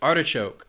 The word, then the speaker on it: artichoke: Next is artichoke. This food has 3 syllables, and the stress is on that first syllable, artichoke.